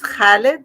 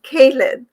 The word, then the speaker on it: Khalid: huge deal like my my son's name is khalid which is you know so we write it with a k so everyone calls him caleb and my neighbor really